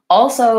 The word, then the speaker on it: also: a good question so also is a challenging word and I do say the L in that word but I don't say a front L so what you might